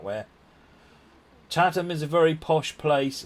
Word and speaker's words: Chatham: you very much indeed but much appreciated Chatham is how it's pronounced Chatham not che them or anything posh like that nothing posh about